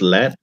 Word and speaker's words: lead: lead into gold and that's lead when it's the metal it's lead yeah when it's uh yeah